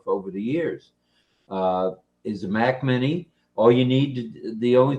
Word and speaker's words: Mac Mini: cell phones, and her brand new to us Mini Max or Mini Mac. Mac Mini. Like I said, Mac Mini. I got an elbow again. Mac Mini is the correct pronunciation of that.